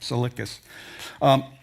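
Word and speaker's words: Tsalickis: Easy to find, but the T is silent, from what I understand. Salicus.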